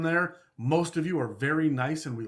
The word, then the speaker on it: Bheur: adam liking to get things correct that it's pronounced ver it's spelt b-h-e-u-r yeah i like i want